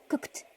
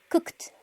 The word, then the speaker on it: cooked: y por lo tanto eso se pronuncia con T. Tenemos cooked, cooked, cooked.